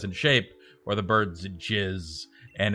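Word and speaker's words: GISS: size and shape unfortunately that term in bird watching happens to be pronounced jizz so you'll go around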